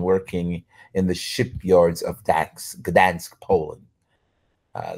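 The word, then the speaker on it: Gdańsk: in the shipyards of Dan Gans Poland uh the g is silent at first he was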